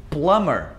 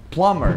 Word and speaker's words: plumber: Por exemplo, o encanador é o nosso plumber. Plumber, não é plumber.